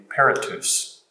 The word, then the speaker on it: peritus: Is that how you pronounce that, Dan? That's right, periti. The singular would be peritus.